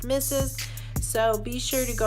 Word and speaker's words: m1zz3z: follow me on Instagram my handles M 1 ZZ 3z pronounced misses so be sure to